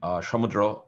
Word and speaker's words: Samudra: Actually, I'm call sign, Shamudra. Last name is, but Shamudra is the first name. So Okay. when you see it in an email, you'll see Samudra.